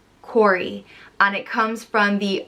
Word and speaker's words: Cory: means from the hollow it's pronounced cor e corey and it comes from